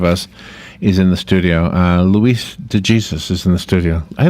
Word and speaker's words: Luis de Jesus: Luis de Jesus is in the studio.